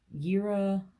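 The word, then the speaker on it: Jera: Rune of the year yira even though it's spelled j-e-r-a is also year it's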